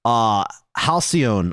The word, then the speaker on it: Halcyon: Halcyon, I believe, is how you pronounce that.